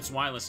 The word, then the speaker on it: Zweilous: Or wait, that's not how you pronounce it, right? You say the W like a V sound, right? But is that how the Pokemon pronunciation works? I mean, it should, because it's using Zavai, right? German word for two, because it has two heads.